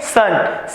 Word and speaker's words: CERN: और आप इसे क्या, इस European organisation for nuclear research इसे प्रोनाउंस कैसे किया जाता है, फ्रेंच में सन, CERN।